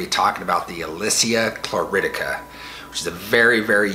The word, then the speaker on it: chlorotica: At first I thought it was chlorotica, which I thought was interesting, but I googled it and it turns out that it's more correctly pronounced chloridica.